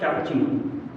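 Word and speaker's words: cappuccino: वो बोल रहा है कि वन cup Chino, that's not cup Chino, it's कैपुचिनो, okay.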